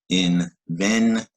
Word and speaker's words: invention: Invention, 3-syllable word, stress on the syllable ven in the middle.